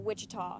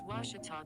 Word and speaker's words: Ouachita: say oh a cheetah back in texas everybody pronounces it wichita but really it's ouachita washington washington how would you pronounce it it's washita baptist university get it